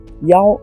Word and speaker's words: 腰: part of a mountain young is for last the same as you can tell that they are pronounced this scene although they are not